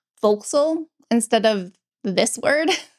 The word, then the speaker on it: forecastle: the way that they are supposed to be pronounced. Vxal instead of this word.